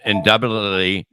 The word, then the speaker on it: indubitably: to believe I'm in indubitably it's a long u not a short u oh that's gonna help